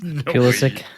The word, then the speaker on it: Pulisic: Is that how you say that? Whoa. Pulisic. Good. No, Lord, you know what? That's how son. you say it.